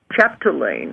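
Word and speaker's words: Chapdelaine: Dr Anthony Anthony okay chapalain I'll have to spell it for you chapal Lane it's ch a p d e l a i n e chap remember roughly when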